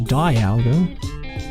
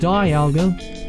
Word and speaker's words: Dialga: name but hey the people say it's supposed to be pronounced Dialga all right so I